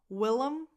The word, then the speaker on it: Willem: Willem, it's a nickname. Willem, we, lax e, lum, lum. The other vowel is just a schwa.